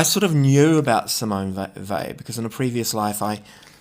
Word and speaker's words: Weil: I know it says whale, but it's not pronounced that way. It's Simone Weil, or Weil. I can't pronounce it properly.